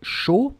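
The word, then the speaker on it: chaud: for for the adjective show okay it ends with the d and it's a common mistake to pronounce it but i mean it's totally silent as in chocolate final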